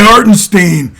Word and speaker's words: Hartenstein: hartenstein who's this guy hartenstein fucker's been there over a year is it Stein or is it Ste it's Stein hartenstein Stein yes hartenstein hartenstein harinstein